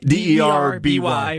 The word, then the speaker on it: Derby: It's spelled Derby, D-R-B-Y. D-E-R-B-Y, right? There it is. But it's pronounced Derby.